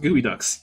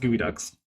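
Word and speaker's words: geoduck: bag of gooey Ducks pronounced gooey Ducks yes it is in fact pronounced gooey Ducks so thank you very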